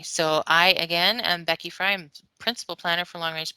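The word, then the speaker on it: Frey: i again am becky fry principal planner for long range planning division this is my email b fry at redmond.gov my last name is pronounced fry but spelled f-r-e-y so from an email's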